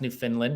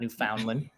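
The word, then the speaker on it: Newfoundland: like I've learned to pronounce New Finland not New Foundland new New Finland and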